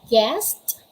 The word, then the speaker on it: guest: all right so again there's the letter u and the letter u comes after comes after letter g letter g then followed by letter u and then after letter u there is a vowel it can be a a e i o u if that's the case you should not pronounce or you shouldn't you should never pronounce letter u what are the examples